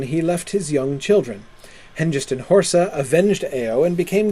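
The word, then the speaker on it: Hengest: I should pronounce Henist the way that Tom Shippy says we should. Uh Henist and Horsa to avenge Ao.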